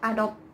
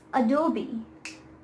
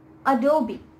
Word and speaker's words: Adobe: brand is this and i myself have been pronouncing it wrong all of the time it is not at all not adopt photoshop adopt premiere pro it is adobe adobe adobe it's not at all it's adobe now